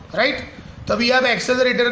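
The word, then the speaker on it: accelerator: अब ये गुजराती लोग प्रोनाउंसिएशन चेंज कर देते हैं, एक्सीलेटर बोलते हैं, एक्सीलेटर। That is the wrong pronunciation. Daily life में चलता है, सामने वाले को समझ में आ जाना चाहिए, लेकिन real pronunciation is what? एक्सेलरेटर, एक्सेलरेटर।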